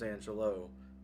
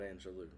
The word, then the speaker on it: Angelou: I was delighted to hear her pronounce her name as Angelo and not Angelou.